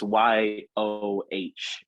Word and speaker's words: Yoh: Um, and one of the dudes that is in charge of it, I think it's pronounced Yo. It's Yoh, and he used to,